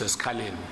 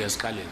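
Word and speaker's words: eSikhaleni: I'm sorry, was it Esikaleni or Esikawini? Which what we have here is Esikaleni. I agree with you, Chair. It's Esikaleni. Should be Esikaleni. Yes. Should be read as Esikaleni.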